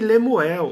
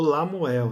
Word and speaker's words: Lemuel: Tem Agur e o rei Lemuel, ou Lamuel, né? Tem duas pronúncias aí para esse rei.